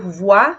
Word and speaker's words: voir: Então, voar, né? O som do a. Você vai ouvir muito o. E comment ça s'écrit avec O-U. Então, voir, que é ver, voir. C'est le verbe voir, ver.